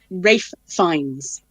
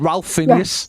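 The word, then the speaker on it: Ralph Fiennes: And it's Rafe Fiennes. Yeah, I know. But he also got the second name wrong as well, didn't he? He said Phineas. He said Ralph Phineas. Yes. Fiennes. Ralph Phineas. Like it was a Disney character.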